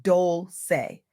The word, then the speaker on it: Dolce: I'm Dolce, pronounced Dole-say, and I'm about to share